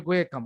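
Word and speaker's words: Guaiacum: তারপর হচ্ছে গোয়েকাম, গোয়ে জেকাম আছে কিন্তু উচ্চারণটা হবে গোয়েকাম।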